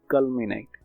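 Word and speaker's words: culminate: इन दोनों के प्रोनाउंसिएशन में काफी फर्क है। वो है कलमनिएट और ये है कल्मिनेट, राइट?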